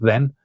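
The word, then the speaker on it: δεν: Then means not generally in all kinds of context, a very common word then. It's just pronounced like the English then.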